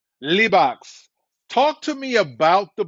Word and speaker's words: Libaax: Is it pronounced Libaax? Libaax. Libaax.